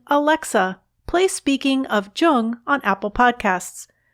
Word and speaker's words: Jung: alexa play speaking of jung on apple podcasts just be sure to pronounce jung with a hard j i'm laura london and